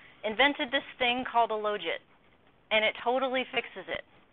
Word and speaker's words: logit: I once had a fight with a former graduate student about the correct pronunciation. He insisted that because you take the log it, it's the logit.